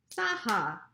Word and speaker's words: Saha: My last name, Saha, has two claps. Let's clap it. Saha.